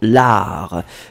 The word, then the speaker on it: art: Et Julia, c'était pas l'arc, hein, c'était vraiment l'art.